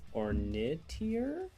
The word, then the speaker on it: Ornitier: Like, how are you supposed to pronounce the last name? Cuz I that up all the time. Orniter.